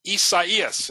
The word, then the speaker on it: Isaias: coming up the coast such as isaias and that's how we pronounce it is it true that